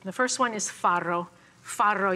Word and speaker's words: farro: first one is farro farro you have to learn how to roll your RS if you're going to eat farro it's got two RS in Italian that's rolled so farro is a